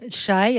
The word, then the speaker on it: Chai: Moi, je vous conseille le livre de Noreen Chai. Alors, ça s'écrit C-H-A-I.